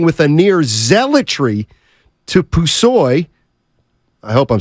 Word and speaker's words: Pusoy: Yeah, Pusoy.